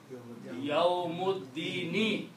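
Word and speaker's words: يوم الدين: somewhere on this alif, that is joining two different nouns and it is not being pronounced. Okay. So that is this thing. So now the combination of these two words became Yawmuddini. Full word is Yawmuddini.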